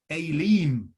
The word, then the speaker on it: Elim: was the odd oasis you remember aileem that's how the hebrews would pronounce it elim with its 70 palm